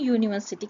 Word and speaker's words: university: මේ word එකේ first letter එක vowel letter එකක් වුණත් මේක pronounce කරන්නේ university කියලා. එතකොට u කියන්නේ vowel sound එකක් නෙවෙයි.